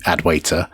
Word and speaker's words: Adwaita: particular theme probably the default genome theme using adwaita uh-huh oh is that how you pronounce it I was how I pronounce it